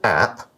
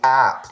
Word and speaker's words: app: it the article says first use an app not AP we say app not AP it's not a it's not like TV it's not an abbreviation it's just app first use an app